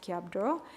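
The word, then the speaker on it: སྐྱབས་འགྲོ: So in Tibetan the term isro which is pronounced kabdro um kab literally means protection or refuge and dro means to go.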